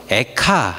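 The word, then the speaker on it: איכה: 예레미야 가의 히브리어 말도 히브리 말로 에카 이렇게 발음을 합니다 에카 너무 비슷비슷하죠 우리가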